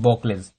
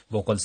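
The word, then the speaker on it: Buchholz: तो बॉकल्स रिले के बारे में पढ़ेंगे, प्रोनाउंसिएशन देख लीजिए, बॉकल्स रिले, कोई बॉकलेस भी पढ़ते हैं, बॉकल्स भी पढ़ते हैं, कोई मतलब बॉकल्स ही इसका सही प्रोनाउंसिएशन है।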